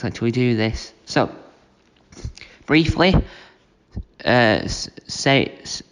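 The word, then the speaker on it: Sayeeda: So, briefly, Saida, that's how you say her name.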